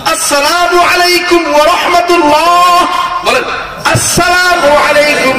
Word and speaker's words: আসসালামু আলাইকুম: আসসালামু আলাইকুম ওয়া রাহমাতুল্লাহ। বলেন আসসালামু আলাইকুম ওয়া রাহমাতুল্লাহ। সালাম কিন্তু শুদ্ধভাবে দেওয়া লাগবে। শুরুতে হামজা আছে, আলিফ আছে। আসসালামু আলাইকুম। সালাম আলাইকুম না।